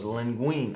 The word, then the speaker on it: linguine: Okay, both of you are wrong. Oh, well. It's linguine. Pass me that box out the LINGUINE. Linguine. I really thought it was linguine.